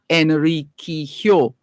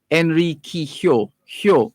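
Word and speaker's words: Enriquillo: that's why it's pronounced enrique hyo enrique hyo the two y's giving you that y's the two l's i beg your pardon giving you that y sound hyo henry kihyou so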